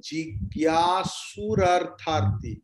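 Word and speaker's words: जिज्ञासुरर्थार्थी: Arto jigyasurartharti. You missed that raw portion after school.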